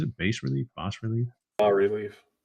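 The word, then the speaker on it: bas-relief: Bas relief boss relief B relief B Rel I think I think I think the I think the S is silent I think it's French sure the b or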